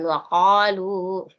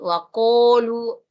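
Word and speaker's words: وقالوا: Jadi qa-nya di tengah-tengah tenggorokan, waqalu. Jangan lagi ada yang sebut waqulu, waqulu, jangan. Jadi sebutnya di sini waqalu lan tamassana.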